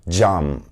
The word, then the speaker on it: cam: For example, the letter C is pronounced J in Turkish. It's the J sound as in jump. For example, the word cam, which stands for glass in Turkish.